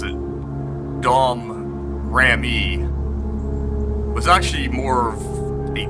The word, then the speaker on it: Domrémy: During her lifetime, the small village that she grew up in, you pronounce it Domrémy, was actually more of a territory of France.